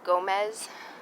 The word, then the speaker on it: Gomes: from my last video i pronounced nessie gomez gomes for some weird reason i know better i know it's gomez i'm my apologies i